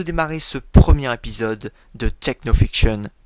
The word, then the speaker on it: TechnoFiction: Alors avant de démarrer ce premier épisode de Technofiction, oui, je prononce à l'anglaise, je tiens à rappeler